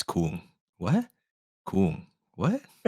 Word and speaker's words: Khuon: Ah, well, it's pronounced Coom.